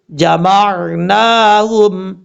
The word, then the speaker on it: جمعناهم: اِذَا جَمَعْنَاهُمْ، میم کو عین سے جب ملائیں گے تو جھٹکا نہیں دینا، میم عین زبر مار، نون کھڑا زبر نا، جمعناہم، اس طریقے سے۔ اب